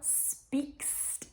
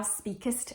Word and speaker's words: speak'st: let me just say it is thou speaks are right not thou speakest are right it's abbreviated for rhythm so don't add the extra syllable i find it quite